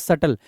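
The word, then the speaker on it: subtle: अगला आपका जो वर्ड है दैट इज़ सटल। सटल का मतलब होता है देखो इसमें एक तो बी साइलेंट रहता है।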